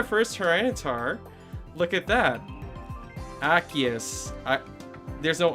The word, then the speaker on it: Arceus: Osiris? Who's saying Osiris? Osiris? Arceus. Is it Arceus? Okay, I'll try to pronounce it that way then.